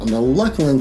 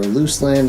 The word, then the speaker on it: Luclin: On the Luclin server, or Luclin, it depends on how you want to pronounce it, Luclin, and I don't even